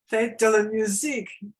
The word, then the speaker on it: Fête de la musique: Fête de la musique.